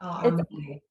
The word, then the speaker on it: Amanie: Is it Amanie? It's Amanie. Amanie. Amanie. Okay. Yeah. All right. That's a lot easier to remember. Amanie. Yeah. Amanie. That's correct way to say it.